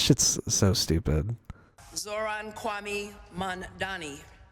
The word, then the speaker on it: Mamdani: Zohran Kwame Mamdani. I think she calls him Mondani.